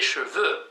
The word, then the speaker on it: cheveux: Да, очень важно правильно произносить иначе получится, что у нее вьющиеся chevaux, в смысле лошади. Les cheveux, волосы.